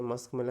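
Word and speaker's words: muskmelon: यु एम मस्कमेलन okay मस्कमेलन म्हणजे खरबूज okay इथं मूस्क नाही म्हणायचं ओके प्रोनाऊन्सिएशन कसं आहे मस्क एम यु एस के मस्क मेलन एम इ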